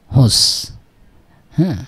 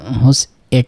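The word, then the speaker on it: huset: ঠিক আছে তার মানে কি হান এরই এট হুস বললে হতো হি ইজ ইন আ হাউস তাই না ইনা হাউস সে একটা বাড়ির ভিতরে কিন্তু এখানে হুসা মানে এটা এটার পুরা উচ্চারণ হোসা মানে হুস এট না হুসাই হুসা যখন হচ্ছে তখন দা হাউস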